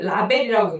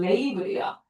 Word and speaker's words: label: 자, 그다음에 자, 얘이 단어이 자 우리 사람들 얘를 라벨이라고 읽는데 자, 정확한 발음은 레이블이야.